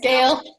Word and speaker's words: Gail: Thanks, Gail. Gail. I didn't see the I before the L.